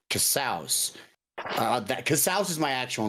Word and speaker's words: Casaus: So my name's Casaus. It rhymes with house.